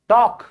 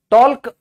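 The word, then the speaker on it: talk: silent है इसीलिए almond बात करना टॉक टॉक टॉल्क बोलता है कोई सुना है आज तक टॉल्क टॉल्क बोलना आपने ध्यान दिया यह साइलेंट क्यों है क्योंकि ये ए के बाद आया है ओके चाहिए शुड शुड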